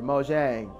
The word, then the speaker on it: Mojang: is about to buy Minecraft Studio mang or Mojang do excuse my ignorance there for not properly